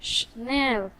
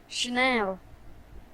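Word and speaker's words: Chanel: इसे चैनल नहीं कहते, इसे शिनेल कहते हैं। शनेल, शनेल।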